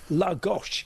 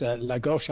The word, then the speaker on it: Lagos: And of course, um, I just need I'm contractually obliged to point out that it's actually Lagosh in Portugal, not to be cons confused with, uh, Nigeria's biggest city.